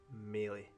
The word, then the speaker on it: Maley: It's actually pronounced Maley.